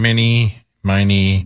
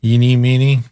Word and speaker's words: eeny, meeny: mini, miny. That's not how it's said, but I got what you were saying. Remember last year they picked KDWB? Any, many, mighty, mo? That's what he said? Eeny, meeny.